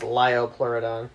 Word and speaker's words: Liopleurodon: it was is it the crocodile-looking one it's pronounced liopleurodon is it the crocodile looking whale so how